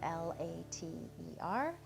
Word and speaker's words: later: We know that later is spelled L-A-T-E-R, but the T is a flap, and so we say it later with a D sound.